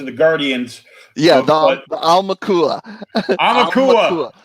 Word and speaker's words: Aumakua: Aumakua. Just think like owl, because it's AU, and that's owl in Hawaiian. So Aumakua. And then 500 is the Mana Motherlode original art.